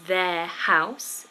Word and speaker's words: their: their hair looking lovely all the theirs are pronounced exactly the same there there and there